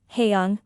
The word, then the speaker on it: Haeyoung: Yesterday after school, Haeyoung, pronounced Young, came up to me and my wife and showed me her school pictures, both her individual photo and her group/grade photo.